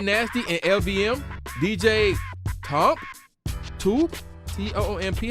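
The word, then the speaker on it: Toomp: and LVM, DJ Tomp, T-O-O-M-P, how you pronounce that joint? Okay, it gotta be Toom.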